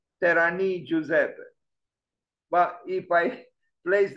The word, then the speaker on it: Terragni: if I remember correctly the pronunciation was kind of like terani Giuseppe but if I